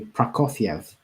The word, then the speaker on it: Prokofiev: It's actually Prokofiev in Russian, Prokofiev, although it's spelled Prokofiev.